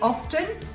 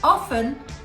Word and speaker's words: often: loud did you say often sorry you're not gonna get points for that one but if you said often that is the correct pronunciation do not pronounce the t it's a silent t let's have a look